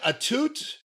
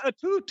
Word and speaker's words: Atout: Well, but look at how it's spelled. A-T-O-U-T, right? Atout. Atout. No, okay. How do you say the word coupe, like a 4-door coupe or whatever? How do you say like about? A Chevy coupe. How do you say about? How do you spell about? A boot. That's a boot.